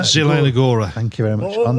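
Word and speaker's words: Zielona: Liga match between Sparta Rockclaw and Can you pronounce that? Zilona Zelona.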